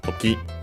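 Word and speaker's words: とき: Accented on the last syllable, so toki.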